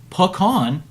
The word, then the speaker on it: pecan: means wrinkled nut and pecan is the proper pronunciation of a pecan it comes from the French so if you're all